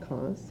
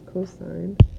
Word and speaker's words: cos: abbreviated to cos so please don't pronounce it cause it's cosine and that would abbreviate